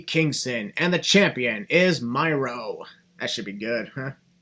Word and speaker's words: Miro: It's pronounced Miro, by the way, Christian.